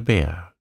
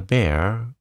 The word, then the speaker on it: Bhaer: It isn't pronounced either bear or beer, as people will say it, but something between the two, and only Germans can give it.